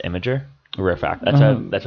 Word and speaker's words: Imgur: I say Imgur. Well, I hear it's actually pronounced Imager.